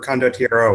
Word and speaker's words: condottiero: I'll be playing Prospero de Merlis, who is a condottiere, or condottiero would be the proper pronunciation.